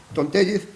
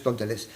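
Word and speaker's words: Tom Tellez: Es decir, el primero que lo revolucionó, que fue Tontellez, bueno, nunca sé cómo pronunciarlo porque él es de origen mexicano, entonces sería Tontellez, pero él es americano, con lo cual para ellos es Tontelés.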